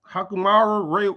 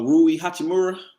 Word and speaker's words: Rui Hachimura: what to do uh hakumara how you say his name no uh rui hachimura yeah man the black